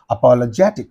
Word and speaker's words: apologetic: in this syllable okay apologetic is the word so where is the uh suffix in the last syllable what is the syllable preceding the suffix means this is that so on this you have to give the stress apologetic like that patriotic patriotic so